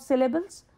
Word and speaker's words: syllable: Words are made up of syllables or parts. The word syllable, for example, has 3 syllables.